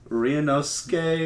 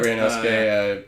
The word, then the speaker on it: Ryunosuke: You know, speaking of insane characters, we have, we just talked about how to pronounce this. Ryunosuke. Yeah, Ryunosuke.